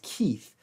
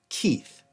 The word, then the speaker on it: Keith: they speak in Guatemala, there is no TH sound, th. That's a sound from Germanic languages. It's not a sound from Romance languages. So people in Guatemala cannot actually pronounce the name Keith. They struggle with it. Most often it comes out like a kip or a kip. And what they're doing is they're translating the TH sound to a P sound.